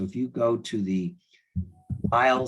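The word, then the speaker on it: Weil: you go to the aisle Center for Integrative Medicine website and while it's spelled w-e-i-l there are now I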